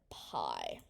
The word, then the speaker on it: pi: Circumference C equals, well, introducing our best friend pi. This little symbol, read it as the delicious dessert you eat on Thanksgiving, pi.